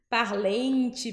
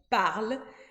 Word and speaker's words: parlent: E-N-T, E-N-T no final. E aí é meio estranho, porque dá uma coceira pra gente falar isso. Parlente, parlons, mas não. A gente só diz il ou elle parle, sem pronunciar o E-N-T.